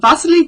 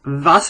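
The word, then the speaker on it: Wassily: you should try it vas I know it's a w but it's Russian and in Russia they pronounce their W's with a V sound so vas Kandinsky I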